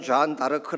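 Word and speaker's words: Jeanne d'Arc: 이 좌 한달 가 시죠 안될까요 블라우스 식으로는 잔다르크 라 그렇게 발음을 하지만 영어식으로 는 조회 n 뭐 r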